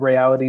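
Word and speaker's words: Rayality: And I also host a political interview show on YouTube called Reality TV, which is spelled RAY-ALITY TV, where, like Ryan, I also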